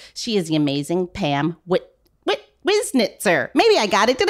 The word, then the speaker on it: Wiznitzer: at it, I think it's the two Z's always get people like really crazed for some reason. But it really is phonetic. Like it's just chopped up into three syllables, like Wiznitzer. Yes. It actually isn't difficult when you do that.